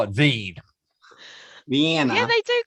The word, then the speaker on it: Wien: The name of the city in German is said as Wien. Wien. See? This is the English name of old Vienna. Oh, the English version is Vienna, and German it's Wien.